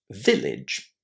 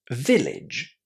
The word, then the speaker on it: village: How is that a pronounced? As the short I sound, right?